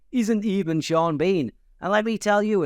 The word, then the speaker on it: Sean Bean: Bean or sha BN but instead it is sha Bean two entirely different pronunciations that have almost the same spelling mading